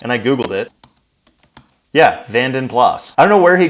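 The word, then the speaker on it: Vanden Plas: and I was like there's something off of about that van plazan I'm pretty sure it's vanen plas and I googled it yeah vanen plas I don't know where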